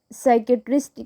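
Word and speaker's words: psychiatrist: हैं नेक्स्ट है physicist साइकेट्रिस्ट कह सकते हैं आप इसको इसमें पी साइलेंट होता है नेक्स्ट है तो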